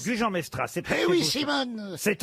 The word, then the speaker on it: Gujan-Mestras: Une question pour Isabelle Terré, qui habite Gujan, mais je sais pas comment on prononce. Gujan-Mestras. Gujan-Mestras, c'est Eh oui, Simone.